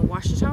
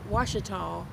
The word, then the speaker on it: Ouachita: in monroe louisiana and ouachita river that is spelled o-u-a-c-h-i-t-a i know it doesn't um the sound you know you try to pronounce it it doesn't sound like washington but anyway that's the